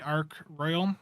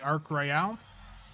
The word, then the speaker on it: Ark Royal: things I I was initially calling the ark Royal the ark Royale and I had to fix that in the video I was